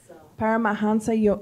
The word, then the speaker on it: Paramahansa: Yogananda I think we should ask Abby to pronounce it para para hamsa Paramahansa Yogananda okay so sorry if it's not the